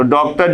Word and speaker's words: डॉक्टर: आप लिखते हो डॉक्टर तो डॉक्टर जब लिखा जाता है तो डी के ऊपर अर्धचंद्राकार लगा दिया जाता है यह अंग्रेजी के दो का उच्चारण करता है दा और दो दोनों में अंतर है जब डॉग कहेंगे